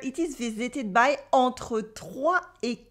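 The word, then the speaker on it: trois: Here, in entre 3 et 4 millions de personnes, you can notice that the S in 3 is silent. Repeat after me. 3, 3, 3.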